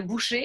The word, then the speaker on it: boucher: So there are a few other exceptions of words that we would also pronounce in a similar way of E and not ER, comme un boulanger, un boucher, a butcher, un cahier, le premier, the first.